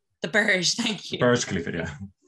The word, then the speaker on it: Burj: about to really embarrass myself, how do you pronounce it, barge the Burj, thank you, Burj Khalifa, yeah.